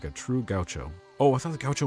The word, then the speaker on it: gaucho: And how do you say it? Gaucho. Gaucho. What is it? Gaucho. Gaucho. Gaucho. Gaucho. Okay. Not gaucho.